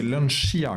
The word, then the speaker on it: Lancia: Et Eric, c'est Lancia qu'il faut dire. Oui, Lancia comme Dacia, Y.